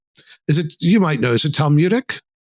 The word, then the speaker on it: Talmudic: Boy, that's a word I write, but I don't have to pronounce it very often. You might know, is it Talmudic? Talmudic, yeah.